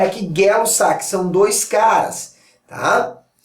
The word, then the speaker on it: Gay-Lussac: A lei de Gay não é gay, é Gay, é assim que se pronuncia, tá? Eu sei que tem gente que já quer falar gay aí. Não, não é gay, é Gay-Lussac. E são dois caras, tanto